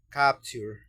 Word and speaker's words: capture: Y esta palabra de abajo que quiere decir captura o capturar también, tanto captura como capturar se pronuncia capture.